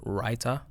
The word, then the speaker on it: raita: then pour something on top of it called raita r-a-i-t-a I believe it's spelled writer and it's like a garlicky uh